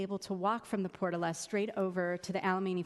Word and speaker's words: Portola: It's actually called the Portola. Very few people believe me when I pronounce the name of my neighborhood.